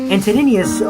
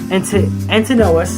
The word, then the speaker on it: Antinous: Antonius, Antinous, yeah, that's how you pronounce it.